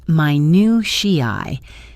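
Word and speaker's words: minutiae: This word pronounced my new shi means the small precise or trivial details of something.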